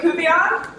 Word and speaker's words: Kubian: My name is Kubian. My last name is a little bit hard to pronounce if you read it for the first time, but it's Kubi like groovy and then yawn like you're tired.